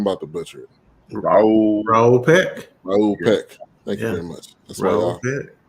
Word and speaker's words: Raoul Peck: name because I'm about to butcher it Raul Raul Peck thank you very much that's way out here